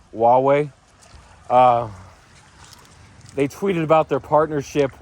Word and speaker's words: Huawei: It looks like Huawei, but it's actually pronounced Huawei.